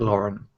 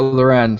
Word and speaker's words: Loren: Loren, is that how you say it, or is it Lauren? No, Loren. She has a little accent.